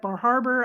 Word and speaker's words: Bar Harbor: And I really like Bar Harbor. I liked all the things I think it's there. pronounced I Bahaba, just by the way.